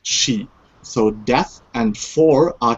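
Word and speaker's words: 死: this uh uh uh the sign for the number four is pronounced she in uh Chinese and the number for death is also pronounced she.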